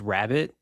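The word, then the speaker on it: Rabit: my favorite musicians is i think it's pronounced rabbit but it's spelled r-a-b-i-t he runs the halcyon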